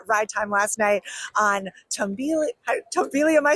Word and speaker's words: Tumbili: We had ERT exclusive ride time last night on Tumbili. Am I saying it right? Yeah. Tumbili.